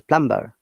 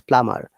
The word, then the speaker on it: plumber: crumb not crumb though many people have the chance to say this one is plumber no it is plumber i remember that when b is before m once again b is always silent this is one of the greatest phonetics rules for pronouncing it correctly then thumb not thumb